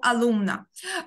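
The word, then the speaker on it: alumna: Алумно, о, алумна. Звертаю вашу увагу, що найчастіше в іспанській мові наголос падає на передостанній склад. Тому алумна, алумно, алумна – це учень-учениця.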